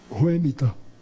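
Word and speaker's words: Whemytta: Ela disse, Ruemita. Eu disse, e como é que se escreve?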